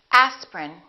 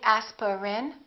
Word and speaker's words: aspirin: a list of words each one of these words contains one vowel one syllable which is not pronounced look at these words and repeat after me aspirin don't say aspirin say aspirin evening evening